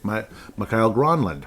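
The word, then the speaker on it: Mikael Granlund: Emmerich in the past would say Mikhail Gronlund, because apparently that is the correct pronunciation.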